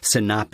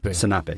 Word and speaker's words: senape: Senape is how you say mustard. Senape, yeah, which I think is close to French, right?